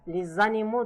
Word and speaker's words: les animaux: Well, the first one is les animaux domestiques. Les animaux domestiques. Here there is kind of lesion between them, which the S is pronounced as Z because it's followed by a vowel. Les animaux domestiques.